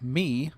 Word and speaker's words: MIIIW: foreign pronounced as me according to the nice little letter they included in sending